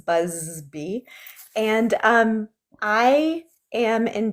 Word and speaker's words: Busby: So, my name is Busby and I always say B goes buzz buzzby and um I am